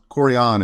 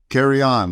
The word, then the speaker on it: Carrion: Carrion is correct. There you go. Said it right. Carrion. Carry on, like carry on. Okay, carry on.